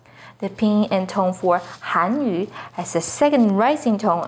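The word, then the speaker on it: Hànyǔ: The pinyin and tone for Hanyu is with the fourth falling tone on Han, Hanyu. The pinyin and tone for Hanyu has a second rising tone on Han, Hanyu.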